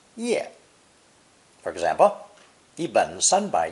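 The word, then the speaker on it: 页: a fully drawn head pronounced fourth tone ye originally meaning simply one's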